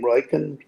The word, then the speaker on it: Riken: When he rides for Riken, that's how you pronounce his name, Riken, he wins at 75%.